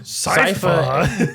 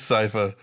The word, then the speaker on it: Sypha: Did I say it right? It's so salty about it. No, I That's right. That's right. Keep it rolling. Sypha. Yeah, it's Cypher.